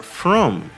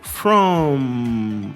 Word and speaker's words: from: Perceba que a palavra from termina com M, e palavras que terminam com M em inglês, você vai ter que fechar os lábios para pronunciar essa palavra. Repita comigo, from, feche os lábios, tá? Não é igual em português que a gente fala from, tá? Tem que fechar os lábios, from, ou se repita.